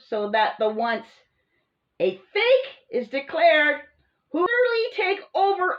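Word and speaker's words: PHEIC: emergency of international concern p-h-e-i-c pronounce as fake for any reason or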